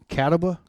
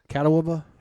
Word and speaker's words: Catawba: can someone pronounce that cataba catawba it's a it's a place in north carolina and every time i do that i go down his road caddo baba and everyone's like that's not how you say yeah